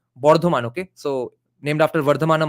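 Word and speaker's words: Bardhaman: know the non-bengali people bird one is the British pronunciation the name is actually the place of the name of the place is actually Bordan okay so named after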